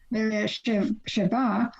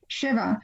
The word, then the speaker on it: Sheva: quandary about it because sometimes it's spelled or pronounced Sheva or Sheva. So in Israel, it's pronounced both ways.